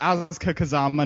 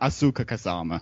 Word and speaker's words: Asuka Kazama: oh I'm so sorry it's AA Kazama not Asuka Kazama no one cares I